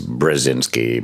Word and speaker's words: Brzezinski: By the way, Good to see even you have problems pronouncing the name. Brzezinski. Yeah. Well, there's two. In America, he was Brzezinski because it was just it's complicated.